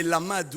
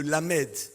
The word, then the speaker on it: lamed: Vous savez qu'un alphabet hébraïque la 12e lettre c'est le lamade ou le lamedal alphabet hébraïque 12e lettre lamade ou lamed ça se prononce comme ça ou et lam veut